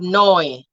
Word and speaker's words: neu: And then we have the umlaut or EU, which sounds like oil. The oil in oil and the OY, oil in oil. So we have euro, we have neu, Deutsch, and then you